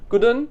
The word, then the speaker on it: couldn't: व्हाई आई couldn't come, couldn't, right, T pronounce नहीं करना, सिर्फ couldn't बोलना है, आई couldn't come, राइट गाइस।